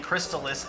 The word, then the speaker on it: Crystalis: I'd like to put my $10 towards saying Crystalis is the correct pronunciation.